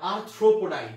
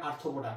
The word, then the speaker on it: আর্থ্রোপোডা: আচ্ছা চলে আসো, এবার চলে আসো হচ্ছে আমার আর্থ্রোপোডাই, তাই উচ্চারণ বলো, সবাই বলে আর্থ্রোপোডা, আরে না আর্থ্রোপোডা, আর্থ্রোপোডা, এখন রেফ আছে এই জায়গাতে আর্থ্রোপোডা। তাহলে আর্থ্রোপোডা আর বাংলা কি?